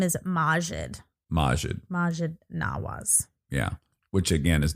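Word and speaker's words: Maajid Nawaz: day yeah y anyway um so Talib was mispronouncing he kept calling him Majid and his name is Majid Majid Majid Naas yeah which again is not to take anything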